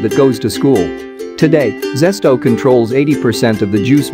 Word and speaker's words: Zest-O: in French, and then he added an O to make the sound more rounded. It was meant to be pronounced Zest-O, but for Filipinos it became Zest-O.